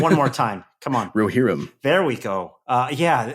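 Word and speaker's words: Rohirrim: How to pronounce the word Roherim. Give me one more time. Come on. Roherim.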